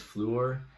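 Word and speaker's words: Fluor: how to pronounce it i think it's floor it's f-l-u-o-r um but it's basically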